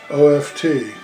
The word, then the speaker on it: oft: it an answer so next word is off oft it's the same as the word often it's